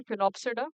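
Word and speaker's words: Sphenopsida: फिनोप्सिडा, जिसमें S silent है, फिनोप्सिडा।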